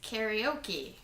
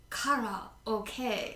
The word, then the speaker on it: karaoke: Well, apparently, according to one person on the internet, they say that it's karaoke because karaoke is wrong. Uh-oh. It's karaoke. Karaoke. Like Oh, that's intense. like Did I do it right? karate, like Kara is karate.